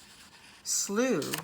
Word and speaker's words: slough: feet tall sluice edge slough rhymes with blue and it is a